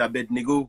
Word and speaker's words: Abednego: suis à l'aide en fait mon prénom c'est à berne égaux mais je préfère que voilà je facilite la